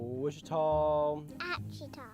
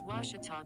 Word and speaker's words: Ouachita: sports digital network i've heard people say oh a cheetah oh wichita back in texas everybody pronounces it wichita but really it's ouachita washington how would you pronounce it it's washita baptist university get it right it's water tall people